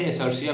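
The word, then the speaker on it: Escherichia: याद रखने के लिए वैसे इसे बोलते हैं एसिया कोलाई एसिया कोलाई बोलते हैं बट तुम याद रखने के लिए ए चरि चिया याद रखना ठीक है स्पेलिंग अगर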